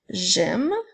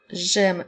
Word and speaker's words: j'aime: avec le mot j'aime dans le mot j'aime nous avons le son J qui s'écrit avec le J apostrophe ensuite le son est et le son un peu n'oublie pas que pour entendre le M tu dois mettre le E ah j'aime comme dans